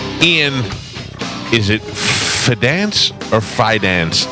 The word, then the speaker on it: Fidance: Ian, is it Fidance or Fidance? How do you say it? It's such an awkward name. Fidance. Because it sounds so much like finance with an unnecessary D. So it's Fidance.